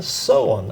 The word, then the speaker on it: Soehn: on Mountain phone line I'm here with so on as our guest I did pronounce that right correct you did great